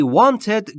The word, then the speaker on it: want: و در مورد تلفظ W در want لبهاتون باید حالت بوسه یا لولهی باشه. هوا خارج میشه. میشه want. پس تلفظ want اشتباهه.